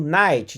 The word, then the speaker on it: knight: Ele é mudo, ele não tem som. Então, knife, faca, assim como knight de cavaleiro, só que você escreve knight, você escreve com K, cavaleiro.